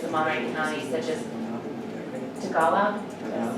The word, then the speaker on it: Tagalog: then other languages in Monterey County such as Tagalog. Did I say that correctly? Tagalog. Tagalog. Is it the G is silent? No, we're Tagalog. No, it's Tagalog. Okay. So, Tagalog. Okay, it's all Tagalog.